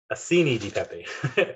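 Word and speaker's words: acini di pepe: we're going to be using a little tiny ancilla do pepe right um a scenic pepe that's how you say it um so those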